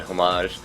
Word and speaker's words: homage: You don't pronounce the H in homage.